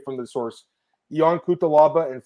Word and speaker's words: Cutelaba: I can listen to the pronunciations. Let me hear this, Marcel. All right, let's see. Cutelaba.